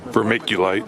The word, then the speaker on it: vermiculite: So I used how do you pronounce that? Vermiculite? Vermiculite.